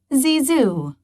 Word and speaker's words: Zizou: name zinedine yazid zadana they gave him a new nickname zizu pronounced zizu in bordeaux zizu worked hard